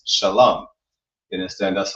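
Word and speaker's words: שלום: of that bastardization, we find out how to pronounce every single character, how to read the words. That's how you know it's not shalom or shalom, but it's shalam.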